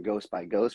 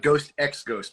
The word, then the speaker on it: Ghost X Ghost: So I like to welcome and thank Brock from Ghost by Ghost for being on here. I really do appreciate it. Yeah, man, it's Ghost X Ghost, by the way. That's how you say it.